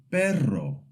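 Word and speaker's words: perro: And the double R always makes the rolled sound like in pero which means dog or carro which means car.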